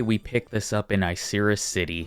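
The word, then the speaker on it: Icirrus City: pick this up in isera city which I looked up the pronunciation straight from the anime straight from the episode caution icy battle conditions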